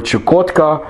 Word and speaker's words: Chukotka: the Chukchi Peninsula chukovsky Paulo Osterman Russian or Chukotka that's how I'll pronounce it it belongs to the permafrost zone